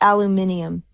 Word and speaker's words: aluminum: And you're combining it's aluminum, not aluminium. All right. Well, a girl can dream. It depends on the country.